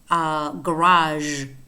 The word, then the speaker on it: garage: Of course, it's also used to pronounce words that are spelled G, as in garage, for example.